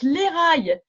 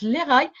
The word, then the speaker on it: Lekha: On prononce Léraï en hébreu, ça s'écrit L-E-K-H-A, mais ça se prononce Léraï, Dodi.